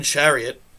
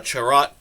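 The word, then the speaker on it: Chiarot: is is getting worse i almost just call this guy ben chariot but it's definitely a charat and not chariot so i'm sorry ben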